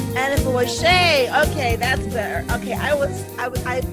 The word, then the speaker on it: Anifowoshe: Did I pronounce it correctly? Anifowoshe. Anifowoshe.